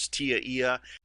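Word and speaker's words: TIA/EIA: standard by the way tia eia which people commonly pronounce as tiaia that stands for telecommunications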